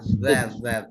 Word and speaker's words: that: that di antara kedua gigi atas dan bawah, that gitu.